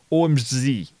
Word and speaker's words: OMZG: you find omzg and you should say it like omg with the russian zed so omg omg something like that i don't know i